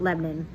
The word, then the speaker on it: Lebanon: family's from it's it's written lebanon but we pronounce it lebanon is about 25 minutes east of nashville super